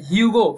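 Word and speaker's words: HUGO: The human genome organisation, हगो हगो बैठ के, ठीक है, ह्यूगो फिलहाल इसे ऐसा प्रोनाउंसिएट करते हैं याद रखना अच्छे से, ठीक है।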